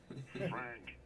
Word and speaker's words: Frank: Frank Cordero. Frank Cordero. Sí, Frank. Fíjate la K, la pronunciación de tener énfasis. Sí. Frank. Exacto. No, Frank. Di Frank. No, Frank. Frank.